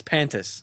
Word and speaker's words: Pantis: think you're just scin added three syllables to that name it's pantis Andy is Scott Steiner